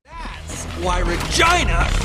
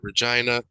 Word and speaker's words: Regina: And that's why Regina rhymes with fun. That's right, Regina rhymes with fun.